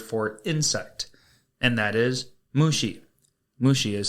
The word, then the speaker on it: mushi: Today's Lance's Lessons is going to be the Japanese word for insect, and that is mushi. Mushi is spelled M-U-S-H-I.